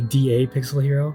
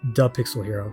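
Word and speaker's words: DAPixelHero: But it's realistically how you're supposed to pronounce it is the Pixel Hero. Like the D and A are supposed to be, so you pronounce it like that, like the Pixel Hero.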